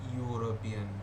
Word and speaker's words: European: Example, dash European. You, European, you is sounding here, okay? Dash European, a European. I know E is a vowel, but it is pronouncing you, okay?